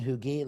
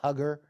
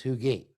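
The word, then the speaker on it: Huger: this is Fort hugi now we saw Benjamin hugi looks like hugger but actually it's hugi now you know let's understand pronunciations change so this is a classic earthw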